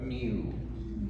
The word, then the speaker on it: new: little more elegant pronunciation i don't go around saying well do you have a new car or a new phone i say new right but when we sing let's use n-y-o-o new it's hardier and i